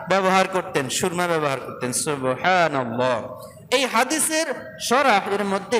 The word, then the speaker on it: সুবহানাল্লাহ: মাশাল্লাহ সুবহানাল্লাহ বলেন সুবহানাল্লাহ সুন্দর করে বলেন সুবহানাল্লাহ এখান থেকে হা টা উচ্চারণ করবেন আলহামদু হা সুবহানাল্লাহ সুবহানাল্লাহ সুবহানাল্লাহ আলহামদুলিল্লাহ বিজ্ঞান